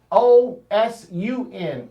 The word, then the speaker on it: Osun: Now, we say Oshun, but it's spelled O-S-U-N in Yoruba. But the Yoruba pronounce their S's as sh. They don't pronounce S as s like we do.